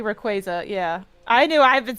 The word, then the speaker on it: Rayquaza: So Nintendo recently released the official pronunciation of uh of Rayquaza and I'm probably saying it wrong. I think it's actually like Rayquaza or whatever. It's It's supposed to be Rayquaza.